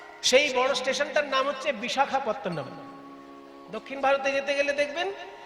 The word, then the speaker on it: বিশাখাপত্তনম: আরক বিশাখাপত্তন কথাটা হচ্ছে বিশাখ বিশাখা নয় বিশাখ আর বিশাখা আলাদা জিনিস।